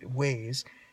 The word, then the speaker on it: Waze: So I thought it was an iOS 11 issue, but now I'm thinking that the trigger for the screen actually displaying the Waze, I keep pronouncing it as WAS, but Waze information on the Pioneer display,